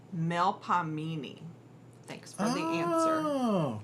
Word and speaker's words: Melpomene: So, pronounced more or less, Melpomene.